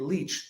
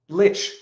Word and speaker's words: Lich: bed viva you must stop pronouncing it leech leeches okay lich it is lich but at one point